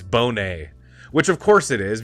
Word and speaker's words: Bonet: thank you Darnell leak this is how you pronounce it and I was saying Bonnet it's Bonet which of course it is because it it